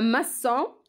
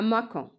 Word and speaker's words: maçon: Un maçon, Cécidile, sinon, on peut dire un macon. Alors, dans ce cas, il y a devant O, Cécidile, c'est passé. Un maçon.